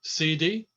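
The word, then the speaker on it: cedi: Now, my calculation suggests that's 174,000 CD. Is that how you pronounce it?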